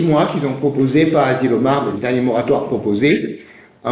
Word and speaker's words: Asilomar: Dans une petite ville de Californie qui s'appelle Asilomar. Ça s'écrit comme ça se prononce, A-S-I.